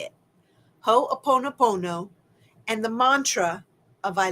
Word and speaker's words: Ho'oponopono: So I think that using Ho'oponopono, that's how you say it, Ho'oponopono, and the mantra of I love you, I'm sorry, please forgive me, thank you.